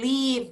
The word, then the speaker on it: leave: chat this verb leave the pronunciation is leave okay here this is the verb leave Leave so in this case the exit sign means that you can leave the building leave is longer it's not leave VV